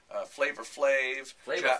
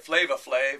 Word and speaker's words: Flavor Flav: you just go to the website dr drew flavor flav no flavor flav flava flav yes see you're a white rapper from did